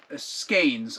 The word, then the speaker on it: skein: This is 2 sets of 2 scrubby skeins. I guess I was saying the word wrong. It's skein. It's pronounced skeins, not skeins.